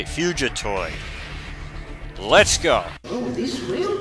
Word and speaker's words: Fugitoid: Fugitoid, that's how you say it, Fugitoid.